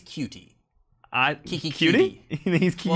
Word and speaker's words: Coutee: I believe it's Cutie.